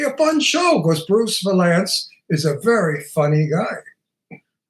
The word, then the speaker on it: Vilanch: How do you say chess? It's not cess, it's chess. You have to pronounce the CH, so Bruce Vilanch.